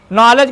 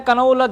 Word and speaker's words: knowledge: नॉलेज को पढ़ते हैं। कनऊ लद गए। कनऊ लद नहीं गए क्योंकि यहां पर देखिएगा मैं बता रहा हूं क्या साइलेंट है।